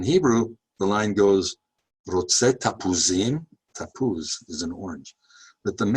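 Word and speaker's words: תפוזים: This is a line that's often used to prove Jewish identification, since most Arabs cannot pronounce the letter P. And in Hebrew, the line goes, "Rotze tapuzim."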